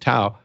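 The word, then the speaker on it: TAO: So let's talk about the token you mentioned there, Bittensor, T-A-O, I guess it's pronounced Tau, about 40% on a trailing 12-month basis.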